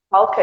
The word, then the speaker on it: talked: Talked. Talked. Talked. Talked. Isso, não fala o E. Tira o E.